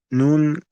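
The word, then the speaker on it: نون: So how is noon pronounced? Noon, so imagine this is the top of your tongue. Noon uses the tip of your tongue, the front tip of your tongue touches the gums of the top two front teeth.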